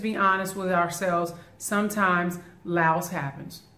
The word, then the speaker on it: Laos: Sometimes Laos happens. Lao, Lao, not Laos, the S is silent.